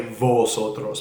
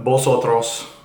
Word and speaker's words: vosotros: in spanish the ube is pronounced more like a like a b in english like bees and and